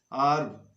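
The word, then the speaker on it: herb: जैसे वर्ब वर्ब हर्ब अर्ब, इसको हर्ब बोलना है, एच साइलेंट होता है।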